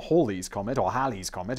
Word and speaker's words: Halley: ali oh my god i bet i'm not the only one getting that wrong and all the big brains are going to be like simon pronounce that ali's comet what are you tiny brains although halley's comet and i'm gonna say it correctly from now on all